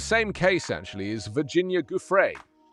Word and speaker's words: Giuffre: Virginia, I think it's Giuffre. They were saying Guffrey.